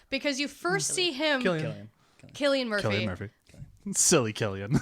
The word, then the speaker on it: Cillian: Killian Murphy. Killian Murphy. Silly Killian. Whatever. You should spell his name with a K if he wants everyone to pronounce it correctly.